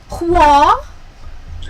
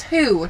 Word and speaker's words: who: Hua? Hua?" And she's like, "No, that's who, not hua."